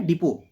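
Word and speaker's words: depot: डिपो। डिपो की spelling में T silent होता है। ठीक है? हमेशा याद रखिएगा। डिपो में टी साइलेंट होता है।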